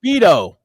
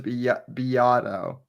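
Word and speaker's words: Beato: Oh, Beto, if you read it, it's Rick Beo. Yes, I've heard of him. Yeah. Yeah, it's Rick. It's Rick Beo, but he pronounces Biato.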